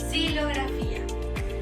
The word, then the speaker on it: xilografía: En este caso, la única palabra que no se pronuncia como SH es xilografía. Esto es porque no es una palabra de origen náhuatl, por lo que se pronuncia como S.